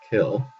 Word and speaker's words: CIL: Common intermediate language C I L pronounced SIL or kill uh formerly uh called Microsoft intermediate language is the lowest level human readable programming language.